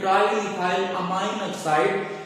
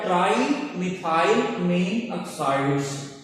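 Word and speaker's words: trimethylamine oxide: और तीसरा कंपाउंड है ट्राइमिथाइल अमीन ऑक्साइड, या कुछ लोग पढ़ते हैं ट्राइमिथाइल अमाइन ऑक्साइड, बेसिकली पढ़ा जाएगा ट्राइमिथाइल अमीन ऑक्साइड्स।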